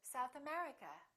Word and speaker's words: South America: and names of places if the place has two words we stress the second word for example south america we say south america united kingdom we say